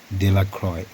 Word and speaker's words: Delacroix: The villagers pronounced this name Delacroix.